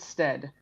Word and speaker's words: Stead: Steed, how do you pronounce it, Mitchell? We usually pronounce it Stead.